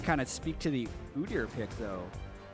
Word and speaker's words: Udyr: of speak to the Udyr pick, though. And I'm not going to change my pronunciation of Udyr, as many people that will tweet me elsewise. I think it's the way you should say it.